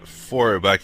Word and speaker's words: Feuerbach: Feuerbach, thank you very much. He was a very important but overlooked Christian theologian with a Gnostic gestalt. Could you tell us a little bit about him? Well, Ludwig Feuerbach was a German intellectual, a precursor of Marx,